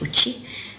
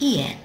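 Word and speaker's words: 家: This one you should know, here's the kanji, and when it means home it's pronounced uchi, and when you use it to mean a house, the same, very same kanji is pronounced ie.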